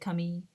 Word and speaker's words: Camille: um and of course they don't say my name like Camille it's more like Kami because the name itself is French anyway uh yes Torsten